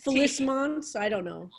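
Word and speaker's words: félicement: Well, now you want me to pronounce it? I know, this is the problem, right? Okay. F-E-L-I-C-E-M-E-N-T. Felicements?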